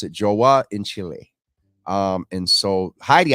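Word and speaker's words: João: We pronounce it Joa in Chile.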